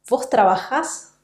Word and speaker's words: trabajás: vos, vamos a obtener vos trabajás, vos comés y vos vivís. La sílaba final es siempre la sílaba que va a sonar más fuerte porque se trata siempre de palabras agudas.